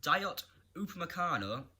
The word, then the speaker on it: Dayot Upamecano: Starting off with a big transfer rumour with Dayot Upamecano, I could have butchered that name, is the RB Leipzig.